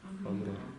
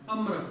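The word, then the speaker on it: आम्र: Но если это санскритское слово, то у нас ра должна читаться. Помните, я говорил об этом, да? Как это прочитается на санскрите? Амра. Амра.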